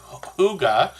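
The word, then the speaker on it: hygge: The word huga, which is pronounced h o o g a in English, but is um spelled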